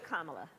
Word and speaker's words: Kamala: Kamala. So just think of like the punctuation mark, a comma, and that add a la, and there you go.